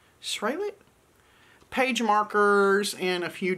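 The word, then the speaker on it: Sralit: of these super cute straight lit no i'm saying it wrong s-r-a-l-i-t swallow it s-rail it page markers and a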